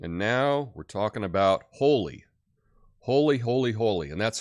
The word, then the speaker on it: Holi: now remember it's pronounced holy I look at it in my head I say Holly it's holy uh like um like a whole thing whole world holy um also like something